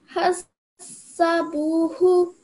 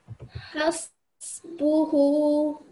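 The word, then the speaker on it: حَسْبُهُ: Hasabuhu. This you pronounce this like it has a fatha. You said hasa, but it's has. Hasbuhu.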